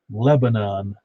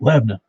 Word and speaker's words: Lebanon: mount julia he says he cracks me up every time you say lebanon when it's lebanon come on man i tell people that too in my business i have to call a lot of people out of state and they go lebanon and i'm going no lebanon is in the middle east this is left wait wait richard if that's true they ought to go through the procedures and taken out the middle vowel and then it would